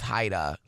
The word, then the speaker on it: Jaida: so funny is like in Spanish my name would be pronounced Haida okay because it's like with a job yeah so it's not